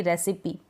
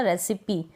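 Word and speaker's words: recipe: जैसे कि रेसिपी जैसे कि यहां पर इ हम प्रोनाउंस कर रहे हैं ना रेसिपी। रेसिपी ई बोल रहे हैं और छोटी ई के रूप में इसका प्रोनाउंसिएशन होता है। बड़ी ई के रूप में नहीं सिमली इसी तरीके से सिमिली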